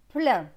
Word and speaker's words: plein: PL, c'est pleu avec EIN. EIN, c'est 1, pleu et 1, plein.